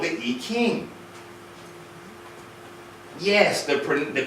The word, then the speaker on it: I Ching: it's called the 64 hexagrams it's called the e king yes the pre the correct pronunciation is not i ching or e gene it is e king king the correct pronunciation of chi is ki